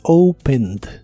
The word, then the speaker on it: opened: la forma del presente pero en el pasado se le agrega la terminación e d Aunque solo se pronuncia la d Así que es opened opened y la puedes usar